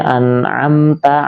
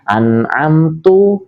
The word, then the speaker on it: an'amta: Contohnya an'amta alaihim, dia membaca an'amtu alaihim atau an'amti alaihim. Ini merubah makna.